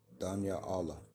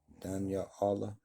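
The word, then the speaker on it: דניאל: Danya Allah. Danya Allah. I think that's how you pronounce his name in the Hebrew.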